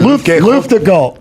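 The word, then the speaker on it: Luftgekühlt: How do you pronounce it? Yeah, Luftgekalt.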